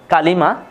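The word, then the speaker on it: كلمة: কালিমা উচ্চারণ করি আমরা কালিমা, শব্দ বা পদ।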